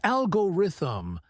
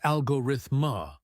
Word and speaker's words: algorithm: First, many people mispronounce algorithm. Exactly. It's algorithm, not algorithma or algorithm.